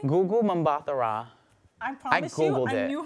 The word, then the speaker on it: Gugu Mbatha-Raw: How do you pronounce her name? Gugu Mbatha-Raw.